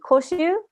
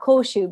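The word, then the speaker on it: 古酒: is for old sake so if you see koshu um not kosu because by the way kosu with the U like on the accent on the U is is a great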